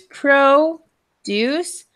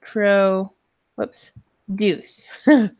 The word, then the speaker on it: produce: important okay so there's two ways to pronounce this there's Pro Deus and pro whoops Deus okay so the emphasis is different so produce and produce do you know which